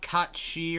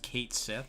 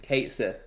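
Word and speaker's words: Cait Sith: So it's not Katshi or whatever the actual Irish Gaelic pronunciation is. It's just Kate Sith. No, it's not. It's Kate Sith.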